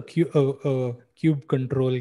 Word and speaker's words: kubectl: Then there's what is variously known as kubectl or kubectl or kubectl. I don't know which camp you might be in about how to pronounce it, but it's basically the Kubernetes command line utility.